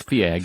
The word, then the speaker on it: Feig: marketed as from the darker side of Paul Feig. Or Feig, or Feig. I never remember how you say his last name. Feig. It's Feig.